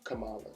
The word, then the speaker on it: Kamala: and vice president-elect kamala harris is it kamala kamala yes see i have a daughter named spelled